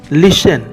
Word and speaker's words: listen: लिसन, यहाँ LISTEN T silent है।